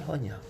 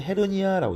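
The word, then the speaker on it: hernia: 자, 다음 용어는 바로 인규이널 허니아. 자, 우리가 이제 링규이날 그래가지고 이렇게 우리가 허니아 또는 헤르니아라고 읽습니다.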